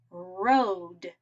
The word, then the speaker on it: road: Now let's see what happens when we put an E at the end. Remember, silent E means that it doesn't make a sound at the end. Instead, it changes O to say its name. O. Let's see. R, Ode. Road.